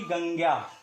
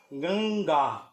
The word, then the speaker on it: गंगा: अब यहां पर जान लीजिए कि इसका उच्चारण अनुस्वार की तरह ना होकर के पंचमाक्षर की तरह होगा, अर्थात इसका उच्चारण गंगा होगा, ना कि गंग्या।